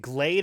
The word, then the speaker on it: Glade: And everybody's making fun of me saying Glad. Is it Glade, or how do you pronounce it? It's Glade. It's Glade.